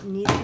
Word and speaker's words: kneaded: What they are what they call kneaded erasers. And you need this eraser, but it's spelled Kneaded, or a gum eraser.